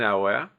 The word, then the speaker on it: hour: Donc là, vous voyez le le mot qui suit commence par une voyelle, on doit mettre n un hour. Donc là, c'est un h mueté.